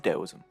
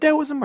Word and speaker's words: Taoism: First of all, is it Taoism or Taoism? Well, Chinese is a complicated language to translate into English. So the reason there is two Taoisms is because of two different systems attempting to write Chinese in the Latin alphabet.